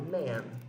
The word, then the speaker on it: men: Se eu quero falar homens, eu falo man, com E. A pronúncia é a mesma, mas em vez de man com A, eu falo man com E. Tá bom? Man, man. Pronuncia igual, escreve diferente.